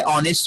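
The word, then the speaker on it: honest: ठीक है, अब ऑनेस्ट में देखिए तो एच जो वर्ड है ऑनेस्ट, ऑनेस्ट के जो फर्स्ट लेटर हमारा एच है जो कि साइलेंट है, जब आप इसको प्रोनाउंस करेंगे तो इसमें अलीफ की साउंड आ रही है, अलीफ की साउंड आ रही है।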